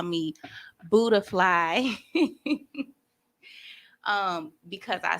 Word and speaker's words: Buddafly: and a lot of people call me buddafly um because i spelt it like that because